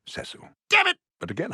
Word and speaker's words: Cecil: look Dr pritchfield Cecil if I may it's pronounced cesil damn it but again how would you know